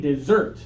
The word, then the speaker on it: dessert: everybody one two 3 dessert good and now the dry place to the east of San Diego desert desert yeah strong first syllable strong second syllable and then some of